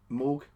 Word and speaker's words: Moog: he was working with Robert Moog morg I believe it's made to be pronounced but oh you Kiwi